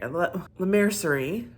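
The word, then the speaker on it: Laura Mercier: I am loving the concealer by L mer L mercerie I finally said it right you know it's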